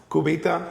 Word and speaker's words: Cubita: So you opened, now I'm going to pronounce Cubita. Yep, that's good. Did I do it well? Cubita.